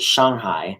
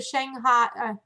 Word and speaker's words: Shanghai: I'm like, oh my gosh, I always have like the long A and I didn't say it right, but she was saying it like it's more of an O sound.